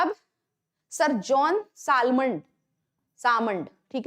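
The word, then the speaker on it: Salmond: अब sir John सालमंड सामन ठीक है सालमंड नहीं पढ़ते इसको सामन पढ़ते हैं एल जो है वो साइलेंट रहता है सर जॉन सामण जो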